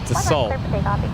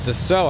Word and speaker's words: Dassault: Dassault, I always pronounced Dassault. Oh, yes. Yes. But they're pronounced Dassault. I learned that from working with those planes.